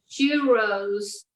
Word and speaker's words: churros: Okay, so churros, you mentioned the R, like that it's in English people might say churros, but I know that's not right because it's has the two R's, and in Spanish,